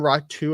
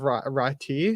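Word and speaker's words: Räty: of the play-by-play commentators the why translates to you so like you pronounce the name rat 2 instead of rati so and he was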